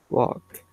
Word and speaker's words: walk: walk walk okay because we don't pronounce the L when it took the L and K when those two letters are together we don't pronounce the L okay yes now what